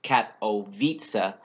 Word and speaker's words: Katowice: a study done in Katowice Poland and yes is pronounced cat o visa eight mail off-road cyclists